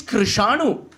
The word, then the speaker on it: Krishanu: Lord Ganesha said the syllable R. Kra, Ra.